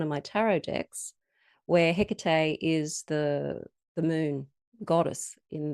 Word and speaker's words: Hecate: I pronounce it Hecate, which may be the Australian accent coming through, I don't know. But look, there's so many different ways of pronouncing it. I think unless you're Greek, we're probably pronouncing it all wrong.